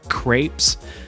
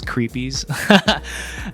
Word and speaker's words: crepes: Sometimes I'm in a sweet mood, and when that happens, I love crepes. I used to pronounce them as creepies.